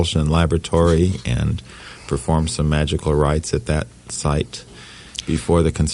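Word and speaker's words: Magick: He liked to pronounce it that way, to refer to the ancient mages. It was the science founded by the ancient mages, the way he saw it. So he pronounced it Magic.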